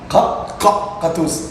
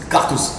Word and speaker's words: Gattouz: Gatouze en arabe, mais puisque les étrangers ne peuvent pas prononcer leur ka, dire Gatouze. Cartouze. Ouais, tu dis ka.